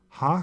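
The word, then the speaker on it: הַ: the Masoretic scribes but in pronouncing it today with modern pronunciation the article is always pronounced ha now let's look at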